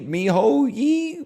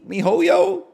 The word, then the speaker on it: miHoYo: or whatever the company he called me Miho ye mihoyo you got it you got it they